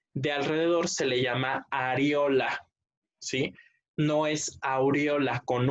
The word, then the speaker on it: areola: No es aureola con U, porque la aureola es la que tienen los ángeles ahí en sus dibujitos de como su coronita de los ángeles. Eso es aureola. Esta es areola, entonces para que lo pronuncien y lo escriban correctamente, ¿sí?